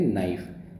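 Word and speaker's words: knife: नाइफ। तो के silent है।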